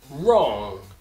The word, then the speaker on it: wrong: Uma outra letra, que seria uma letra muda, quando nós tivermos uma palavra que tem a letra W, e logo após a letra W tiver a letra R, essa letra W vai ser uma silent letter. Nós não iremos pronunciar a letra W na palavra. Como, por exemplo, right, wrist, wrong, rap.